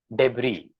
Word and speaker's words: debris: debris and not debris although there is this letter S at the end of this word it is never pronounced you see this letter